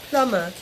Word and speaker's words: plumber: are plumb NEMA be usually the B is silent okay so I will write B in the spelling we don't pronounce beat while we pronounce the word coma begin it's pronounced Plummer and the spelling is